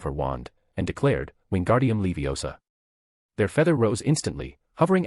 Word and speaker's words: Leviosa: It's Levi-O-S-A. Not Levio's-S-A.